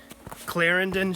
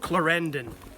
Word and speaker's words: Clarendon: And it's not Clarendon Shelter or Clarendon, Vermont, but in fact it's Clarendon Shelter and Clarendon, Vermont, home of Loretta's Good Food Deli.